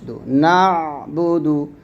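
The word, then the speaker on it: نعبد: মাঝখান থেকে নিয়ে আসবেন বা পেশ দাল পেশ নাবুদু নাুদু নাবুদু ইয়াকা নাবুদু ইয়াকা নাবুদু ইয়াকা নাবুদু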